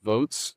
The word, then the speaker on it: Voatz: And so we put together a project in partnership with Votes, and that's spelled VOATZ.